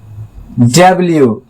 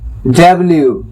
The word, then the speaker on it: W: डब्ल्यू, डब्ल्यू, डब्ल्यू। इसको बोलते लोग डब्लू कह देता है, डब्लू, डब्लू नहीं, डब्ल्यू।